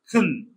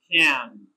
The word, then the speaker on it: can: The weak form of this word is pronounced kun, kun. And the strong form is pronounced can.